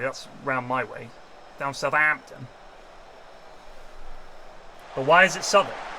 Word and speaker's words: Southampton: a good name yes Southern we don't say sub like Southampton it's not Southampton Southampton is it it's Southampton we don't say Southampton even in Southampton well generally that's around my way down Southampton but why is it